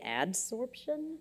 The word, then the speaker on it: adsorption: I want to make sure that I'm pronouncing this right. Is this supposed to say adsorption?